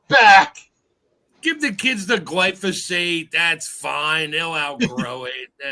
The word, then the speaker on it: glyphosate: they might have been the um the gly glyphosate say it with me GL you and Joe